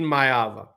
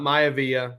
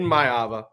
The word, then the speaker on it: Maiava: to unpack here man so Georgia lands Jaden mava okay and that's how you pronounce his name it's not mayaa I'm sorry I wish it was Jay Ro